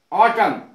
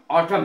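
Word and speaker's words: autumn: टी यू एम एन ऑटम ऑटम माने पत झड़ और इसकी उच्चारण ऑटम है तो क्या है कि ये एन साइलेंट रहेगा इसमें अब अगला देखें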